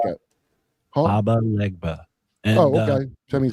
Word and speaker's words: Papa Legba: Baba, you almost had it. Baba Legba. It's like a voodoo sort of. It's not Papa Leg.